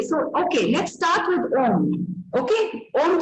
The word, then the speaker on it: Om: Now, Om शब्द में 3 syllables हैं. आप सब जानते हैं ना? अ, उ, म.